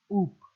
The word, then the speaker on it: OOP: the object oriented programming often pronounced as oops so in the oop